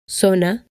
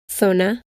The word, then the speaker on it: zona: A, O, or U, it is usually pronounced S. Zapato, zona, azul. With the exception of most of Spain, where the theta is used and is pronounced th, similar to the th in think and thank you.